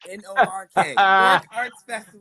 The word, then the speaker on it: Newark: And I know you're a local because you pronounce it like a local, Newark, as opposed to I do. Newark. NORK.